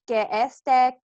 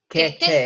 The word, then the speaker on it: que esté: Remember, because you're pronouncing the S, but you're not. So, que esté cerca. That almost sounds like one word. Yeah. Que esté almost sounds like it's blending into one word, isn't it?